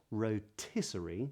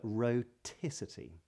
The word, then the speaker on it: rhoticity: today's lesson is on something called rotic not rotic that's very different but rotic and this is the